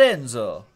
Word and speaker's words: Enzo: it's like spod just detoxing day that's glad Enzo let Enzo right that's how you say it he's the